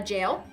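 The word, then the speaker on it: gaol: also researched um a jail o do you like how they spell jail they spell it g a o l oh that's interesting yeah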